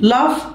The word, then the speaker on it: laugh: يسخر من laugh at. الجي والاتش هنا تنطق زي الاف كده تمام laugh at.